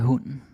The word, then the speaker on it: hunden: Hvor gammel er hunden? Hvor gammel er hunden? How old is the dog? Well. Hvor gammel er hunden? Hunden. That's a silent E right there.